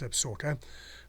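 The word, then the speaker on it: Absaroka: little while ago are the absorker mountains they pronounced absorker but spelled absorota now the lamar valley is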